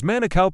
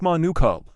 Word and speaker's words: Manukau: There was a guy at my work whose name was Manukau, pronounced Manukau, but all the boomers called him Manukau.